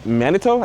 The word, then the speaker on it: Manitou: Manitou?